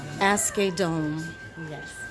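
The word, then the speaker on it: Asghedom: you don't Aramis Aramis Aramis Joseph asked Aiden asked a dome and I've given her some of your kind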